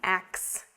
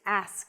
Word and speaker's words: ask: But the pronunciation of ask should not be ax. It's ask. Let me ask you a question. I want to ask you something. It's not ax.